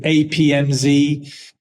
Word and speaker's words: APMZEE: You know, we pronounce it APMZ.